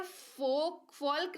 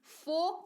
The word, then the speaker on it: folk: यहाँ पर एल के पहले ओ या OU आए तो यहाँ पर फोल्क नहीं फोक पढ़ेंगे।